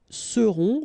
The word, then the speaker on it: seront: Ils seront, final T not pronounced, and then you've got this nasal, on, seront.